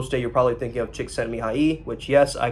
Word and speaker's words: Csikszentmihalyi: If you're thinking about the flow state, you're probably thinking of Csikszentmihalyi, which, yes, I pronounced his name right.